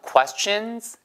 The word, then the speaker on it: questions: Can we ask you some questions? 발음이요. 캐스천이 아니고 입술 내밀어야 돼요.